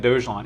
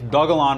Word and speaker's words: Dogelon: uh yeah dogalon dojolon i keep pronouncing it dojon it's dogalon martians so if we look